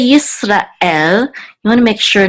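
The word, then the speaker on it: ישראל: But in Hebrew, they're much more distinct, these two syllables, Yisrael. And this is the trope or accent mark, and it's at the end of, it's on the last syllable. So Yisrael, okay, not Israel. It's not Yisrael, like more like English. It's Yisrael, okay.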